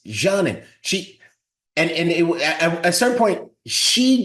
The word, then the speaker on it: Canan: We butchered her name because it's spelled Canan. So we're calling her Kanan. No, it's Janin.